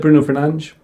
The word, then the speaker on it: Fernandes: I like the way you said Bruno Fernandes.